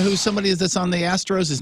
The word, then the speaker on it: Astros: Diaz he's with the Astros I think he was with them with their World Series the trastos TR I'm sorry I mispronounce that you're right we have